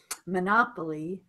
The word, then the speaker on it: Monopoly: Monopoly, stress Monopoly. is different on the pronunciation here.